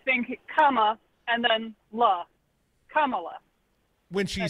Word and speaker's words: Kamala: I was just calling because it's Kamala. Like you're saying the pronunciation. That's not how she said it to me. Kamala. That's it.